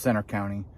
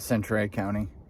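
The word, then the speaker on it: Centre County: welcome to Center County I'm pretty sure it's pronounced Center County not Cent County I mean we're not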